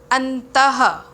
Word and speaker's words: अंतः: अंतः, इसका उच्चारण ह हलंत युक्त ह से होता है।